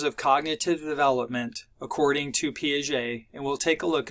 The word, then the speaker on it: Piaget: a cognitive psychologist was piaget that's how you pronounce this name piaget and um he was interested he basically because